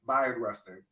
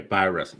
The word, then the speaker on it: Bayard Rustin: Bi instead of bae. Bayard Rustin. Yeah. Okay. Bayard Rustin.